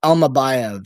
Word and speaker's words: Almabayev: I mean, like you got Manel Kape, the ex-Ryzen champion, facing, is this how you pronounce it? Asu Almabayev? I believe it's Almabayev.